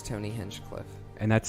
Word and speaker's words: Hinchcliffe: uh just your name right yeah it's Tony henchcliffe and that's spelled h plus hch Cliff plus e it's